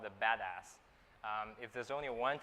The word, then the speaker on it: BDAS: analytics stack at UC Berkeley amplab called the badass um if there's only one takeaway today that's how you pronounce this name again there's a lot of